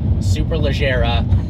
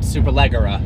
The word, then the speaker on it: Superleggera: Even though Lamborghini is an Italian company, it is not Gallardo, and it is Superleggera, not Superleggera.